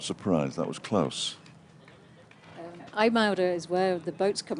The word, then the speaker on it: IJmuiden: Eimouder is where the boats come in, the ferries from Humberside. And Humberside, I think you finally would pronounce it over here. Marty pronounced it Ijmuiden.